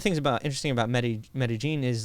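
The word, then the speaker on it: Medellín: can't pronounce anything its Medellin if you pronounce it like Spanish you know with the double Ellis would be like Medellin but colloquially and they're they pronounced double ELLs like a hard J like meta-gene meta-gene yes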